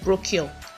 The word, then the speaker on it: brochure: The CH in that word is sh sound. Sh as in ship.